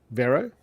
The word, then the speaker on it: Vero: um what what did we decide how we pronounce it veryl Vero yes you are correct Greg um hey Dave